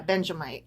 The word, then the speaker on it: Benjamite: Ben, yeah, Benjamite. I was trying to add in an additional syllable, right?